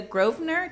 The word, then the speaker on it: Grosvenor: talking today with Julia Grosvenor did I say that right yep yeah so I had that right yeah definitely not spelled the way you pronounce it excuse me so today